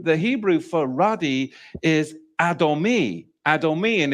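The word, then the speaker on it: אדומי: at the Hebrew the Hebrew for radi is adomi adomi and it's spelled Olive do me nun yod and it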